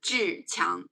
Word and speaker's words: Zhiqiang: Around this time, I would like to introduce I'm reading book to Chinese pronunciation is Zhiqiang, z h i q i a n g, Zhiqiang.